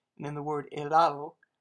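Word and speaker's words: helado: and in the word elado you don't pronounce the h at all in spanish you pretty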